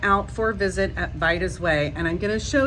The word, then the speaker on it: Vida: Vida, long I. Think Ida, but with a V in front of it.